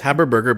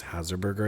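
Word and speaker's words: Habersberger: It's Haberburger, but you've been mispronouncing as Hazerburger, I think, earlier.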